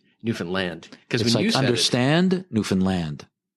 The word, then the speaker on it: Newfoundland: too, cuz they're Let me tell you, it's Newfoundland. That's how you say it. Thank you. Yeah. Newfoundland.